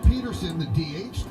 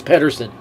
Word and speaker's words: Pederson: pitches though here's John Peterson it is Pederson up Peterson if you're okay there they always mispronounce it he insists it's Pederson they have a d it is Pederson upstairs stop throw the